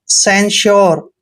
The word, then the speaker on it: censure: Next है CENSURE। दोस्तों सी का उच्चारण स करना है, जब भी सी के बाद ई आता है आपने सी का उच्चारण श करना है, और ई को ए की मात्रा पढ़ते हैं, एन का उच्चारण आधा न करते हैं, और SURE को श्योर पढ़ते हैं, सेंश्योर।